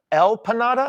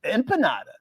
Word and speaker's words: empanada: Wait. Empanada? Have I been saying it wrong my whole entire life? Wait. I've always been saying empanada. El panada? No, empanada. Oh, with an N as opposed to an M?